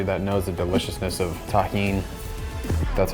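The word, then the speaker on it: Tajín: Shout out to everybody that knows the deliciousness of Tajin. That's how you pronounce this.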